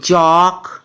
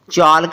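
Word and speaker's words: chalk: एल उसके बाद है सीच एल के चक चालक नहीं पढ़ना डब्लू एल के वक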